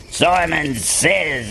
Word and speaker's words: Simon Says: So it would be pronounced as Simon Says, and the way he's, you know, just look on the Facebook, you'll find it.